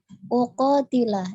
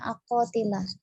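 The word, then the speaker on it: أقاتل: Untuk uqatilah ya, uqatilah tadi dibacanya aqatilah. Jadi di sini hamzahnya itu dhammah ya, karena mengikuti di awalnya umirtu.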